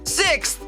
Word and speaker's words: sixth: Então vamos relembrar 2 sons para pronunciar esse numeral direitinho. O primeiro som é six. E depois a gente coloca a língua entre os dentes para fazer o som do TH. Agora vocês repetem sixth.